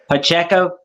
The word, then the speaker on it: Pacheco: The running back from Kansas City, Pacheco.